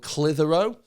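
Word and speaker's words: Clitheroe: an hour away called clitherow uh and it's spelt c-l-i-t-h-e-r-o-e and so it sounds an awful lot like hero and then i'm sure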